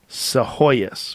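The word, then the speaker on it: Psihoyos: Seahoyus right? Luis Se Hoyas who uh directed the Cove on and we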